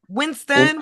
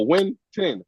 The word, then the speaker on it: Wynton: But it's like, but you're missing an S. Ain't no S. Winston, Wynton. No, Wynton. W-Y-N-T-O-N.